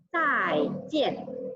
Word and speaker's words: 再见: Kemudian untuk salam perpisahan atau sampai berjumpa kembali, kita menggunakan zai jian. Lihat, ian ini dibaca yen, yen. Jadi ini bacanya adalah yen.